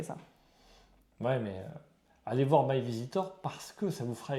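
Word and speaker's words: MyVeasytor: Parce qu'en fait, il y a un petit jeu de mots avec easy.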